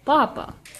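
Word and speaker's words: papá: on the first syllable papa and that means potato but then we have the agudah word papa the emphasis is on the last syllable so we mark it with an accent Papa means dad so you need to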